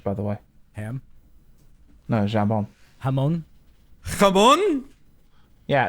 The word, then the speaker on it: jambon: no, jambon. Hamon. Come on. Yeah, it's spelled J-A.